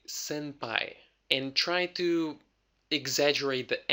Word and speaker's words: senpai: know native speakers you will often hear like an M sound now here's the weird thing it's spelled with an N so why does the n becomes M when Japanese is pretty clear about pronunciation you see it's very popular in Japanese or for Japanese people to change the pronunciation to make it easier for them to pronounce the word okay so if I'll